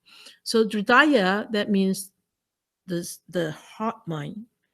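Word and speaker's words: हृदय: Hridaya, this H sound is not being pronounced like it's a hush sound. So Hridaya, that means the heart mind.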